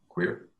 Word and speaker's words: Kwir: It's called KWIR. Queer.